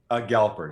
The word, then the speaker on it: Galper: And I should have asked you before we started, how do you say your last name? Galper, just like you said it.